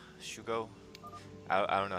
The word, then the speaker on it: SuGo: we start off with Sugo Shugo I I don't know how you want to pronounce I'm pretty sure it's Shugo right I think that's the Korean way yeah so top right